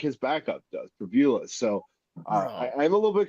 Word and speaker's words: Pribula: I'm probably going to butcher his name. It's Pribula, I believe is how you say it.